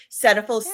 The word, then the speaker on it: Cetaphil: Is that how you pronounce Yes, it? Cetaphil, yeah, Cetaphil, or whatever.